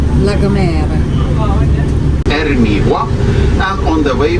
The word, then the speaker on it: La Gomera: Yeah, so how do you pronounce it? La Gomera. Yeah, Gomera. Gomera. Yeah, and it's La Gomera.